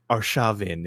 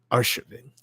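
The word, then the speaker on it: Arshavin: Valentina said, "Yeah, it's it's not Arshavein, it's Arvin." That's the correct way to pronounce it. I believe that's correct. Um, so the stress is on the second syllable.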